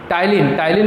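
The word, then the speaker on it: ptyalin: टाइलिन में P जो है वो साइलेंट है, टाइलिन, फिर उसके बाद लाइसोजाइम और एमाइलेज।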